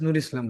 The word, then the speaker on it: Nur Islam: Nur Islam together, my lord. Islam has been joined, my lord. As such, my lord, in English, my lord, it will be pronounced as Nur Islam, my lord.